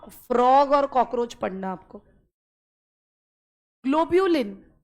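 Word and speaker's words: globulin: ग्लोब्यूलिन, ग्लोबुलिन नहीं है, ग्लोब्यूलिन, GLO, ग्लोब्यूलिन।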